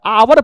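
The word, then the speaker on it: hour: यहां एच जो है वो साइलेंट है। अब ये ओ से शुरू हो रहा है। आवर पढ़ते हैं।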